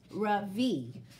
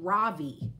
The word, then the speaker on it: Ravi: is ravi it's pronounced ravi with a soft ra and a strong v in sanskrit it means the sun in america people call me ravi with the stress on